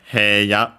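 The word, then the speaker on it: 部屋: By the way, as a reminder, hey ya, hei, so long e. For most, some still pronounce a as a.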